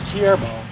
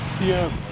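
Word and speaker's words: theorbo: It's someone says it should be called tierbo. My name is not, so to me it's a tierbo. Okay, so I've heard it pronounced both ways, and as far as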